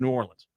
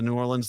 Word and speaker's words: New Orleans: is New Orleans although they say new New Orleans and you don't say it like that they get mad at you it's New Orleans and don't say nin no New Orleans that's yeah there you